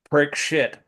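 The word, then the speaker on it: Parikshit: Prayashita, and Prikshit is pronounced prick shit. All right, But shit. SHIT. Yeah, S A I was wondering about that part. yeah, Yeah. the S with a dot under it is pronounced sha, but Okay.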